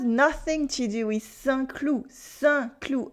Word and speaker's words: Saint-Cloud: Saint-Cloud, a French city near Paris with a silent D. Saint-Cloud.